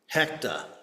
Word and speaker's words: Hector: So early one morning, he and his team are outside the apartment door of a wanted criminal named Hector, or as he pronounced it, Hecta.